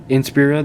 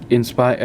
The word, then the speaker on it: Inspira: was the huawei inspira that's actually how you pronounce it in spira so yeah some people this one guy dustin the unlucky wolf 13 if i sound corrected he he pronounced it as inspire um aspire whatever or